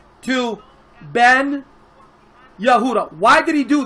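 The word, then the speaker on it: בן: the word uh Ben if you want to say son in Hebrew you would say Ben you would use the Hebrew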